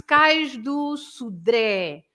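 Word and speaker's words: Cais do Sodré: And so it's Cais do Sudré. You stress the last E, Sudré. And you open the vowel. You open the vowel E because of that.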